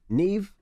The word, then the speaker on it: Nev: Nev, I said it right?